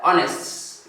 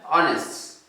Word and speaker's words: honest: So there are words when we are pronouncing them, we do not pronounce the first letter. For example, we have the word honest. You have the word honest.